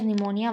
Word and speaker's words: pneumonia: So pneumonia is actually, it was written what here, P pneumonia, but it is known as pneumonia. Why? Because P is silent.